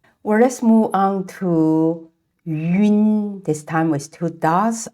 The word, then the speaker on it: yun: So when pronouncing yun sound, we need to say yu first, and then quickly glide to n sound. Make sure the air comes out from the nasal capacity.